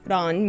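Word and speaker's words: 蘭: The first, pronounced ran, means orchid.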